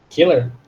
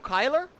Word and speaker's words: killer: Não não O próximo killer killer por que que eu falo Killer não kyler eu não sei porque tem dois L entende a regra é